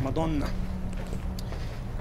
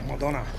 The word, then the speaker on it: Madonna: That's what we say it like the Italians, Madonna. Some, I think the English, the British say it otherwise, Madonna.